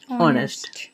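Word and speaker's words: honest: silent থাকবে ঠিক আছে যেমন হনেস্ট কবনা আমরা বলব যে অনেস্ট ও আসছে এস পর্যন্ত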